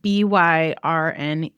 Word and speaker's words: Byrne: if you're wondering how to pronounce my last name, you can just think about one of the things that we talked about today, which is burnout.